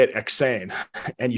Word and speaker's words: EksAyn: It's you say it EksAyn and you spell it EksAyn.